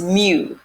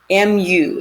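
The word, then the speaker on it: μ: this is the way we say this is mu mu is how it's pronounced a greek letter gives us the standard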